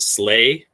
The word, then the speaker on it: SLA: a sense of humor you might hear this pronounced slay and you can really